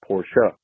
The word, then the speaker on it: Porsche: it off my chest i hate when people say porsche rather than the proper way of saying it porsha it does have an e at the end that is pronounced as an uh sound i hear it all